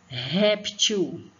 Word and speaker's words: réptil: E o Ré é a sílaba, é o pedaço da palavra que é a sílaba tônica, ou seja, que é mais forte, tá bom?